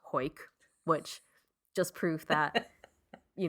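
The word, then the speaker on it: Hawick: h-a-w-i-c-k it looks okay it looks like haywick or Howick but it's pronounced hoyk which just proof that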